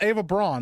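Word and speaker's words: Eva Braun: don't know Braun Braun I'm pretty sure it's Ava Braun that's how I've always heard it pronounced yeah she was she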